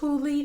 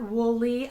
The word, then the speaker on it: Whooley: It's pronounced Whooley, not Wooly. A lot of people call me Wooly.